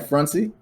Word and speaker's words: Frantzy: Frantzy, right? Frantzy? Yes. Yep. Okay. Yep. You said it right on the money. You said it the way I like it to be said. I had to say it the Haitian way.